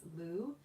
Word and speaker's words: Lugh: a very multitasking god lou is spelled l-u-g-h and um you know